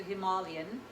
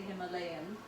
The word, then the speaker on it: Himalayan: I'm using my female we pronounce it him a lien but you guys say Himalayan and salt and I'm putting